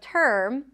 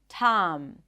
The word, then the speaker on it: term: So instead of girl, they might say something like gal. Instead of term, tam. Instead of first, fast.